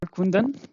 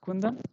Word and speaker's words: Kundan: I'm called Kundan in my native language Hindi. I come basically from India. So here it is pronounced as Kundan. Okay. But uh in German you can pronounce me as Kundan.